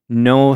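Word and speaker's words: Noh: I had no idea, though, that they had all these masks.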